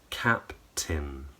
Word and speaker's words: captain: So just so we're clear, the end of those words is pronounced with wide lips, I, and the tongue is high and forward. So it should rhyme with the word tin. So copy me. Mountain, fountain, captain.